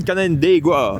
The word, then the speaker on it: Canandaigua: It's a good pronunciation, Canandaigua.